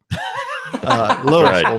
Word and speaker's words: Louisville: germant toown Memphis area that's Louisville Louisville Mississippi we pronounce the S here for whatever reason not